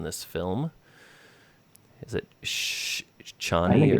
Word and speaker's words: Chani: Shawnee would be my guess. I think it's Chani, and Chani's how they had pronounced it in the Yeah. Lynch film too.